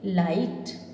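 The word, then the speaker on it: light: ठीक है, और जीएचटी क्या होगा उसमें, जीएच हमेशा उसमें साइलेंट रहता है, साइलेंट रहेगा। जैसे यहाँ पर हम पढ़ रहे हैं एल आई जी एच टी, लाइट, एल आई जी एच टी, लाइट, राइट, नाइट, फाइट, है ना।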